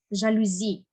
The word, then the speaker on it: жалюзі: запам'ятаймося далі слово жалюзі маємо говорити так жалюзі ми є придбали нові жалюзі не на інший склад падає наголос а саме на останній далі слово дрова правильно